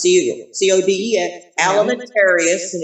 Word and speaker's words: Alimentarius: codex just exactly like it sounds ceo c-o-d-e-f alimentarius and it's spelled exactly like it sounds a-l-m-e-n-t-a-r-i yes well